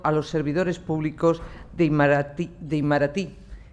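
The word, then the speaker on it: Itamaraty: los servidores públicos de Imaratí, que creo que es con acento en la I última.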